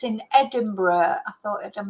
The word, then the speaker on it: Edinburgh: a few students from Edinburg the um Edinburgh as I should say Edinburg I'm pronouncing it in the Spanish way so yeah I've got